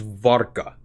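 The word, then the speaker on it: wódka: it's it's actually a V it's an it's pronounced of V so it's vodka oh yes I am opening the beer with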